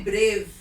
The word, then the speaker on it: brave: When I say brave, we don't hear the sound E, so it is a silent E.